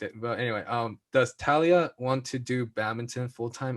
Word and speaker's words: Talia: couple questions for talia um by the way talia's name is pronounced talia not talia for the us people that are